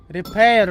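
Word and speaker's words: Reparo: Репейру надо говорить, да, ударение на ре.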